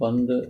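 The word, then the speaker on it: Punt: ഭൂമിയെ കുറിച്ച് പറയുന്നുണ്ട് ഈ പണ്ട് എന്ന് ഇതിന്റെ ഉച്ചാരണം നമ്മൾ മലയാളങ്ങളിലെല്ലാം പന്ത് എന്ന് ആണ് വിളിക്കാൻ സാധ്യത പന്ത് എന്ന് ഞാൻ വിളിക്കാൻ ഉദ്ദേശിക്കുന്നത്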